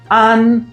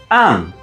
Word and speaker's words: 安: This character is pronounced an in Mandarin or an in Japanese.